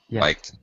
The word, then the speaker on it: liked: that salvatory learned learned learned and liked with a t sound yeah liked okay uh also chemical